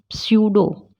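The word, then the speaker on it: pseudo: जब वो PS या PT के साथ होता है, जैसे स्यूडो, इसको पी को साइलेंट रखेंगे।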